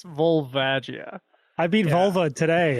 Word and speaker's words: Volvagia: night I just beat volvagia today yeah you're saying it wrong it's volvage yeah I beat vulva